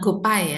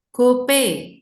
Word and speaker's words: GoPay: Jadi kita sekarang yang udah ikut kelas pelafalan jangan gopay ya. Gope. Oke. Iya, Kan bilangnya jangan gopay lagi, kita gope ya.